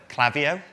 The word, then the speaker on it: Klaviyo: The very first thing when we actually start working at Klaviyo is we learn how to pronounce Klaviyo. I guarantee if any of you read it, you will all go, Klaviyo?